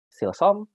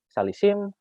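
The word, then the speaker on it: שלשים: Nah, ini bisa dibaca silsom, salisim, sheloshim.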